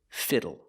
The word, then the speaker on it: fiddle: Today, we're learning this word, fiddle. Pronunciation, use the short i sound for the i. Fi- fi- fiddle. Fiddle. And the l e makes a sound o o like table and bottle.